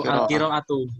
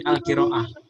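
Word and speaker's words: القراءة: untuk percakapan kalau misalnya ada tak marbut seperti ini yang bundur ini di akhir itu dibaca ha jadi ha mati jadi bacanya enggak perlu alqiraatu tapi alqiraah Nah kalau untuk percakapanqah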